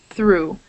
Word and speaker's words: through: And then we have number four, ooh, Liverpool, through. So you can think of O-U-G-H as making the ooh sound.